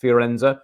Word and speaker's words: Firenze: How do you pronounce it? Fiorenza? Valley Florence. Oh, you went to Firenze.